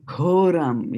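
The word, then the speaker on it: घोरम्: Ghoram. Yeah, there's a H here, like in ghoda. Ghoda. It is not go as in goat. It is gho, right?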